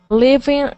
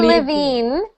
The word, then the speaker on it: living: could good good and finally the next one living living okay living room living try getting that living living not livine not livine Liv liing living living living living